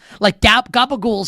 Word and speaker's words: capicola: Gabagool's up there, which is capicola, right? Which is called gabagool.